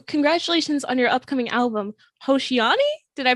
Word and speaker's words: Hoshiani: is uh so congratulations on your upcoming album hoshiani did i pronounce that properly so i keep sending this yeah that is properly it was gonna be called hoshiani and i left it like that on the